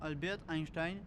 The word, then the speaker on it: Albert Einstein: Albert Einstein, prononcé en allemand Albert Einstein, né le 14 mars